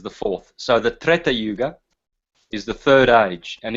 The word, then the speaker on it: Yuga: and so um Satya Yuga or yug it's actually it's actually pronounced yug um and then yeah